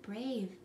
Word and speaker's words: brave: the word brave mm-hmm I also need a scoop it syllable type it is a vowel consonant a syllable I need to put that macron over the a and cross out the e that is for the